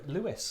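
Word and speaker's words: Lewes: neck of the woods Le L Lewis Le Lewis that's how they pronounce it yeah do they know yeah oh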